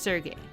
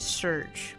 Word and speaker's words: Serge: you play as a protagonist sergey that's how you pronounce it right when i was a teen i always said surge but i think it might be surgery anyways sergey is enjoying